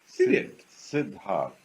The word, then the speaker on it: Siddharth: It's Siddharth. All these years, and very I say simple, sweetheart, Siddharth. Sweetheart. It rhymes so good.